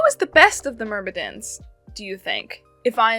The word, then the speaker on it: Myrmidons: Myrmidons. Sounds like mermaids!